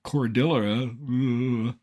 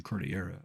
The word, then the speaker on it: Cordillera: Like the mispronunciation of Canadian Cordillera earlier in the show. We should say Canadian Cordillera, of course.